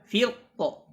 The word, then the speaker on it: فرق: Adapun ketika dia dibaca waqaf, maka ini cara membacanya adalah hanya dibaca tebal. Hanya dibaca tebal. Nah, itu kalau misalnya diwaqafkan. Firqo. Ya, firqo. Tapi kalau misalnya diwasalkan, maka boleh dibaca tebal atau dibaca tipis.